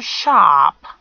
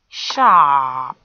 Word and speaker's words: sharp: Sh, ah, a long monophthong, and gives you sharp, sharp.